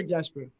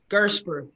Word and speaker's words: Gersper: Is it Gersper or Gesper? Gersper. Gersper, hard G.